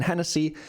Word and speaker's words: Hennessy: below and Hennessy actually has Irish Origins uh again that's why you pronounce the h in Hennessy so LV MH is